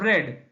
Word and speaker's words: read: या फिर past participle, इसका स्पेलिंग एक जैसा है लेकिन इसका उच्चार जो है प्रोनाउंसिएशन वो थोड़ा सा अलग है। रीड प्रेजेंट फॉर्म का प्रोनाउंसिएशन, रेड पास्ट फॉर्म का, और रेड past participle. So read, read, read.